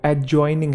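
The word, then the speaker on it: adjoining: वड है एड जॉइनिंग एड जॉइनिंग नहीं है वो एड जॉइनिंग है एड जॉइनिंग ठीक है तो ए और जे के बीच में जो डी है व साइलेंट है अब इसकी एक खास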